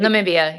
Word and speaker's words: Namibia: Namibia? Namibia, yeah, Yeah, Namibia.